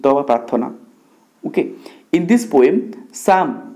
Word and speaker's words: Psalm: okay in this poem साम पीएसए एल एम आपको स्लाम पढ़ियानी साम okay P is silent here in this poem साम